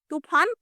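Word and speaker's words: तूफ़ान: यहां है तूफान। तूफान फ के नीचे लगा हुआ है। छोटी सी बिंदी उसे कहते हैं नुक्ता। नुक्ता लगने से तूफान। ठीक है? इसके उच्चारण में फर्क आ जाता है।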